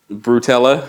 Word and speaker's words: Brutella: It rhymes with Nutella. Brutella? Yes.